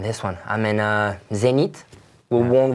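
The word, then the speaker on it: Zenith: one I'm in a Zenit we won't we won't pronounce the H for us yeah I'm pretty pretty much as an American we we like to call it zennith so okay what you're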